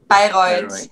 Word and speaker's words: Bayreuth: I think the pronunciation of your place is Bayreuth, right? Bayreuth? Yes, correct. Is it correct, or Bayreuth? Yeah, Bayreuth. Yeah, that's correct.